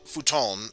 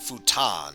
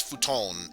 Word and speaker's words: futon: so yes um in japan it's called futon uh over here in the west you might pronounce it futon so just keep that in mind uh while it is pronounced futon here it's futon in japan hey thanks for listening to me